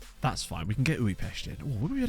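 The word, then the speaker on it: Újpest: Well, you can read it however you like, but it's pronounced Uipest, as far as I'm aware.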